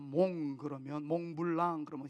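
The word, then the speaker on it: mont: 몬트, T 발음이 안 나는 프랑스에서는 몽 그러면 몽블랑 그러면 흰 눈이 덮인 산, 뭐 이런 뜻을 가지고 있듯이 몽트라는 말은 산이라는 겁니다.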